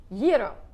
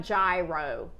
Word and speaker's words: gyro: Yo, my stepmom's daddy was off the boat. So, yo is it's not gyro.